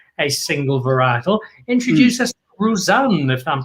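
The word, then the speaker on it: Roussanne: single varietal introduce us rouzan if i'm pronouncing it correctly and tell us what that's about uh you've actually almost nailed the pronunciation um you know it is rusan or rouzan and it is a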